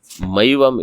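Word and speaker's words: मैवम्: Maivam it should be. One matra is given, right?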